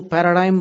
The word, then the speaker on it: paradigm: एक दूसरे डॉक्टर हेगड़े, तो उसमें वो पैराडिग्म बोलते थे। और फॉरेनर्स जो उसका उच्चारण करते हैं PARADIGM, उसका स्पेलिंग है, वो पैराडाइम बोलते हैं।